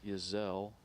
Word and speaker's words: Yezel: Claire's last name is pronounced Yezel. And again, being corrected in Claire's last name to Yezel.